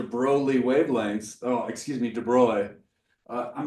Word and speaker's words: de Broglie: Oh, excuse me, de-BROY. I'm not good at pronouncing the name. We'll get to that pronunciation in a later video. I grew up saying de Broglie, but it's de Broglie, de-BROY.